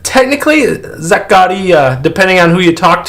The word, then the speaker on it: Zaccaria: So I know you play Zaccaria Pinball quite a bit.